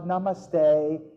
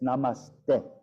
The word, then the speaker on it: namaste: instructor saying, hi everybody, namaste, which is completely bad pronunciation of a namaste. Bring your hands to heart center. And it's like, maybe she speaks fluent Sanskrit, I don't know, but that's the sound.